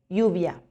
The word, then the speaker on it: lluvia: La doble L se pronuncia como Y. Llorar, lluvia.